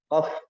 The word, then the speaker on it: ق: Ya, qaf, qatiqu baqa, qatiqu baqa. Jangan membulatkan bibir, bukan o, tapi qa.